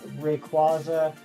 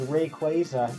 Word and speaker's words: Rayquaza: like uh that one I have always said as written uh Rayquaza but no the official is Rayquaza yeah I don't like